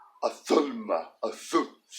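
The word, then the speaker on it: ظلمة: Now this letter actually has two correct pronunciations in modern standard Arabic, and it can also be pronounced with a Z sound, as in zulma. But in this word, and it depends on the word, it also depends on the region. This word is generally pronounced othulma.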